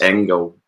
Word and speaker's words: Engel: can get, is it Engel? How do you pronounce it, JP? I want to get this right. Because I pronounced Kuhn's name wrong. Yes, Engel. Just Engel? Because, yeah. We'll go Engel. Hard G, because is he German or is he Belgian?